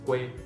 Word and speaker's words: quê: Cờ u e là đọc là quê, đúng không? Thì cái quê này chính là đang trong từ quê hương, và các bạn phát âm được quê, cờ u e, quê, quê hương đó.